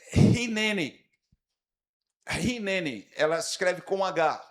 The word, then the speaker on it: Hineni: Essa palavra é hineni. Hineni, ela se escreve com H.